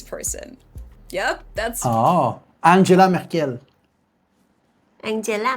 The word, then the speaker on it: Merkel: In English, she's usually referred to as Merkel or when people say the full name, it's either Angela Merkel or some people say like Angela Merkel. In German, it's pronounced Angela M. Angela M. This one isn't too far. I feel like there's between Ma and Merkel.